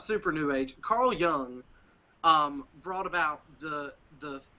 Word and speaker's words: Jung: you're talking about because his name is not pronounced the way it's spelled yes it's yeah it's young but Jung is how